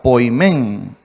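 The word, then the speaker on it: ποιμήν: es la palabra poimen así como se escucha poimen con acento en la e Qué significa guardián en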